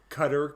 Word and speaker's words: Qatar: it's being held yeah Qatar Qatar I mean everybody pronounces it differently yeah I've always heard him it's the correct pronunciation is cutter but however you pronounce